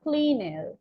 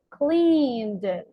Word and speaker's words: cleaned: tell them I'm sorry it is not cleanest okay is cleaned say it again cleaned perfect because the idea